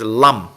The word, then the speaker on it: lam: front, that syllable is lam. Lam is basically la la lam, right? The sound lam consists of la and is like a nasalization of la, and la is the kind of the root syllable for lochana.